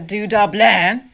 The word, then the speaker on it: Du-dobleahn: the dudlin this is case number 738 the du dublin is the correct pronunciation in its native dialect the name or